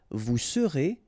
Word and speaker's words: vous serez: Je serai, tu seras, final S not pronounced, il sera, elle sera, nous serons, final S not pronounced, vous serez, a Z at the end, et serez, ils seront, final T not pronounced, elles seront.